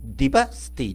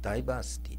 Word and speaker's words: ダイバーシティ: れますこれダイバシティディバーシティて発音するのが正しいんじゃないでしょうかディバーシティダイバシティダイバシティていうとダイバーの人があのう集う街みたいに聞こえるんで私は